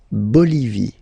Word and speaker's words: Bolivie: Okay, final not pronounced. La Bolivie.